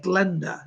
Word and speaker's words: Glenda: And how do you say Glenda? Glenda is how she says it. She says, I'm Glenda.